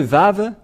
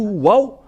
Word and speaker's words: vav: c'est bien ça donc c'est pas du tout waou mais on le prononce bien vav et le vave est apparu vers moin 200 avant yosua et on le prononcit V et nous allons revenir en